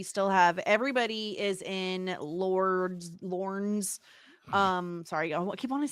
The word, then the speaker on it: Lorne: have everybody is in Lorne's. Sorry, I keep wanting to say Lord. Lorne's world. It's just like Lauren. Lorne. No, Lauren. It's two. Lauren is two syllables. Lorne is just one.